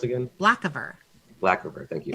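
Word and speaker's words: Blackavar: She'll just I guess she'll look at him, the black, how's the name pronounced again? Blackiver.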